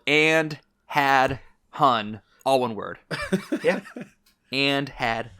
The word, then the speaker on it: Andhadhun: h-a-d-h-u-n uh it's spelled to the english listeners that's spelled and had hun all one word and had hun and dude